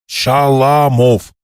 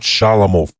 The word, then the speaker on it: Shalamov: Shalamov, not Shalamov. The second syllable is stressed.